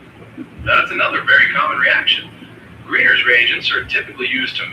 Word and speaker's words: Grignard: While the spelling includes Gnard, the usual pronunciation is like grin with a soft G, and then yard, almost like grin yard, not green eggs.